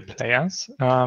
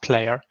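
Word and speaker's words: Plyr: use a player called, I don't know how to pronounce it, P-L-Y-R. I guess it's just pronounced player.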